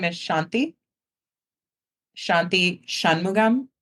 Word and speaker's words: Shanthi: My first name is Shanti.